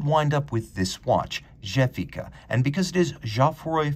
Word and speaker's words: Gefica: up with this watch jefika and because it is jafari fesore and canale i'm pronouncing it with a soft french g rather than the german gefika but i know a